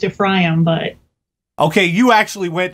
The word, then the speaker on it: Ephraim: Well, biblically, it would be pronounced Ephraim, but.